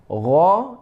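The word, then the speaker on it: غ: Nah, cara membacanya ghairihu bagh. Tidak qalqalah, tidak bagh, bukan, itu salah ya. Yang benar ghairihu bagh. Ghan ghani na minal mughni maghiran ghani ghan. Nah, cara bacanya seperti itu.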